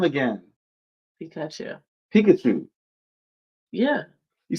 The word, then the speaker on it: Pikachu: Pikachu. Why do you say it like that? I don't understand how I'm saying it. Say his name again. Pikachu.